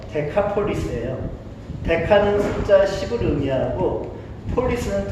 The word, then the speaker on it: 데카폴리스: 데가볼리의 정확한 발음은요, 데카폴리스예요.